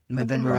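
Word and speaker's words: Madeira: Med M Medida or Madera. Madera Island.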